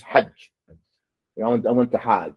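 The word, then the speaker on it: حج: It's not hajj. It's hajj.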